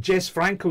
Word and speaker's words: Jess Franco: filmmakers and I hey is it Jess Franco is is that how you pronounce his name j Franco the Spanish y Jesus so we know most these